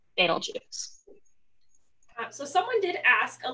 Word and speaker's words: Betelgeuse: And if you pronounce this using the Arabic pronunciation, it'll be Betelgeuse instead of Betelgeuse.